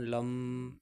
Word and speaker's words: लं: हिंदी वर्णमाला में लय अक्षर के ऊपर यदि बिंदी लगा दी जाए तो उसका उच्चारण लम होता है।